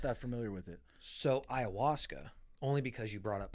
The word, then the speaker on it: ayahuasca: What is ayahuasca? See, look. There Peru. you go. See right there. Ayahuasca, Peru. Yeah. What is ayahuasca? Okay. Wow, I was horribly off. I spelt it IOWASKA. The A is silent.